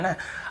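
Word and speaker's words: know: नो, इसे नाउ नहीं पढ़ेंगे, ठीक है, नो, नो भी नहीं, नो यानी जानने वाला नो है।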